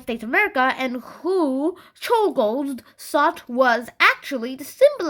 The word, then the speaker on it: Czolgosz: Yeah, it's pronounced Czolgosz.